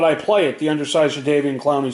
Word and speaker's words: Jadeveon: Jadeveon. Oh, is that how you pronounce it? Jadeveon. Like Dontavion.